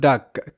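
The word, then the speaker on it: duck: First শব্দ যদি আমরা দেখি, ডি ইউ সি কে, এটার উচ্চারণটা ডাক কিভাবে হচ্ছে সেটা বলছি। ডিতে ড আমরা জানি, আর ইউ এর সাউন্ড আ, তো ড আ ডা।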